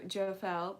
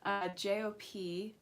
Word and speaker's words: Jophiel: Thank you, Jofel, or Josel, or Joseph, I don't know. But it's Jophiel.